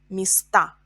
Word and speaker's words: места: Место, места. A is stressed in plural. In singular, is stressed. Место, места.